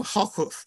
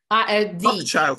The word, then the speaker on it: Hochschild: this by a very fine writer called Adam Hockhuth. I'm sure I mispronounced his name. It is called King Leopold's Ghost. And Hockhuth, in the introduction Hochschild.